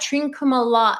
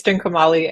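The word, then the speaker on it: Trincomalee: And then you've got Trinkuma. And I'm gonna let you've got to pronounce that. Hana. What? Say that. You're so much better with language than I am. It's Trinkumali and Eastern Coast.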